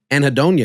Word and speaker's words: anhedonia: I never heard of anhedonia. Is that how you say the word? Hold on. Is that how you say that word? Anhedonia. Anhedonia. Oh, I said it right.